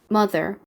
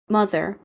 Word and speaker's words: mother: mom, mother, 앞쪽에 강세를 넣어주시면 됩니다. mother, mother, 이렇게요.